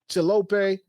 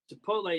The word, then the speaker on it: Chipotle: Applebee's, Chili's, Chilope. have you ever had? I know you a vegetarian. Have you ever had chilope before? Am I I've even saying it right? Chipotle, yeah, I've taken the wife there, and she